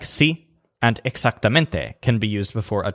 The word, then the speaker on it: exactamente: to English words but in each case the stress is on the syllable that sounds kind of like mint realmente exactamente on the statues face